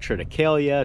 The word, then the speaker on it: Triticale: This year though, I'm gonna plant Triticale. That's how I pronounce it anyway. I've heard people call it Triticale, Triticale. However you pronounce it, that's what it's gonna be this year.